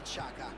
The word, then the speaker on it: Xhaka: pronunciata alla tedesca maniera, in tedesco. Granit Xhaka.